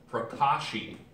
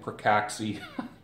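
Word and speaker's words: pracaxi: have um you have marula oil you have prashi prashi oil can you see that you have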